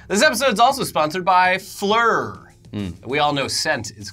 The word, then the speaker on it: Phlur: perfect fragrance from Fleur Fleur is like the French word for flower but it's spelled way way different pH L you are flora makes great